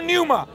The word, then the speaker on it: pneuma: N-E-U-M-A. Pneuma. Which is pneuma, yeah?